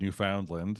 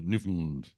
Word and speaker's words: Newfoundland: But outside of people that lived in the area, both of those pronunciations were used. There were folks that said Newfoundland and other folks that said Newfoundland. So technically they were both correct. But again, today it's still the Newfoundland pronunciation is still quote unquote correct.